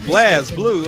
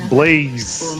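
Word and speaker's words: BlazBlue: somebody the other day was like blaz blue. I'm like, "What the hell is a blaze blue?" Like, no. It's Blaze. Just cuz the E ain't dead don't mean you don't pronounce it right.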